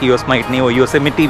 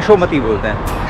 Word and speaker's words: Yosemite: I was pronouncing it as, 'Yosmite'. People then corrected me that it's 'Yosemite', not 'Yosmite'.